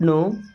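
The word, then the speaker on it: know: हूं okay I don't नो दोस्तों आई means होता है मैं डोंट मींस नहीं नो इस नो वर्ड में के और डब्लू दोनों साइलेंट होते हैं नो का मतलब जानना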